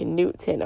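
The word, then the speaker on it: Neith: Newt is how you pronounce it, like Newton, okay? But a lot of people call her Nut, and she is also directly connected to Neath. But she told me to not pronounce it Neath, it's pronounced Newt.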